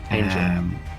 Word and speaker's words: Angell: Am I pronouncing that right? Angel.